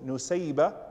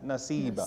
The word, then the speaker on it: Nusaybah: nasiba pronunciations are correct so her name is recorded as both no sayiba and nasiba so if anyone wants to name their daughter nasiba instead of nuseba it's fine insha Allah as both of